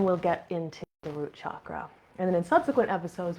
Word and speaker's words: chakra: wrong way anymore, as chakras, with a sh sound like this, but it's actually a hard ch sound to correctly pronounce it.